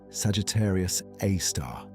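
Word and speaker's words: Sagittarius A*: Its name is Sagittarius Aar written as Sagittarius a star and usually pronounced Sagittarius Aar.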